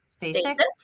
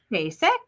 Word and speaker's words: Stasik: I am so excited today to have a wonderful woman on our call, on our podcast, Stacey. Stasik. I knew I was going to say it wrong.